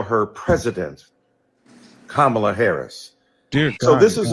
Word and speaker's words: Kamala: insisted upon misnaming mispronouncing kamla Harris do you call Melania Melania do you call Ivanka Ivanka then call Kamala Kamala then call vice president Harris vice president Kamala Harris and soon we pray